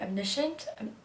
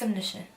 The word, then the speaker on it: omniscient: just don't know how to say the word admissions Nishant its omniscient yeah yeah anyway such personalities of Godhead are